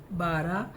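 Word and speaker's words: بارہ: जाना और अब यह 12:00 बजे घर आना तो बे अलीफ ब रे हे र 12 तो यह साइलेंट रहता है 12 ही बोलेंगे लेकिन हे डाल दिया इसमें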